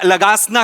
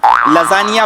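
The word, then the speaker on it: lasagna: पहिल्या दिवशी आपण हा खाऊया, लगासना खाऊया. लगासना. तुमच्या बापानी केला होता लगासना. लजानिया बोलता येत नाही, स्पेलिंग वाचून लगासना बोलता तुम्ही.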